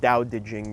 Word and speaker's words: Tao Te Ching: And what it's really talking about is, I guess one way you can translate Tao Te Ching is, it's pronounced Dao De Jing, but I never like saying it that way.